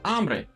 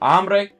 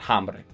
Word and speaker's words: hambre: So hambre, agua, alma, and ala. And of course, the H here is silent, so it's hambre, it's not hambre.